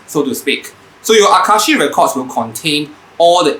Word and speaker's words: Akashic: actually ends with a c i would have pronounced it as aka shikh but my friends who are in the know